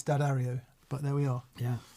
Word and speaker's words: D'Addario: diddly jimbo diddly says thanks for not pronouncing it uh d a dario like so many say it drives me nuts you've pronounced it correctly d'addario i think the people